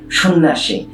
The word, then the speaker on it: সন্ন্যাসী: দেখো উদাহরণটি, সন্ন্যাসী, নয় নয় যুক্ত ব্যঞ্জন জফলা আকার। এই জফলার কারণে আগে অকারান্ত শয়ের ওকার উচ্চারিত হয়েছে, কিন্তু এই দুটো ন এখানে দুটো কেবল নয় থেকে গেছে, আর কিছু হয়নি।